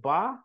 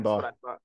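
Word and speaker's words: Baugh: Is that's how you pronounce it? Ba, right? Yep, Damian Ba.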